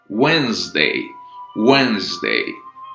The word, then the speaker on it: Wednesday: یه نکته کلیدی رو هم بگم، تلفظ چهارشنبه دیش تلفظ نمیشه، ونزدی میشه. حالا اینا رو تلفظ میکنم متوجهشون میشید. Monday, Tuesday, Wednesday, Thursday, Friday, Saturday, Sunday.